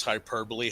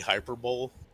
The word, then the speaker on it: hyperbole: lot of that lately does he does he pronounce hyperbole hyperbowl oh God you know you know who's been